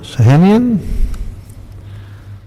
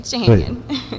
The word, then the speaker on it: Shahanian: Shahanian? Good afternoon. Good afternoon. Did I pronounce that correctly? Yes, you did. Shahanian.